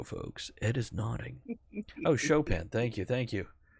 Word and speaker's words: Chopin: Oh, Chopin, thank you. Jay corrected my pronunciation. Thank you. Chopping broccoli. That's what I always think of when I see Chopin spelled out.